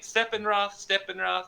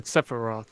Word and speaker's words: Sephiroth: Steppenroth? I can't remember. The bad guy in this, he was one. Sephiroth.